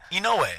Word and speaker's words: Inoue: You say his name wrong. Inoue's not right? That's not right? Inoue. Inoue.